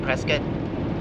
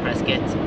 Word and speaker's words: Prescott: saying it fast and it sounds like Prescott, but it sounds more like IT than OT. Or it could be ET, Prescott.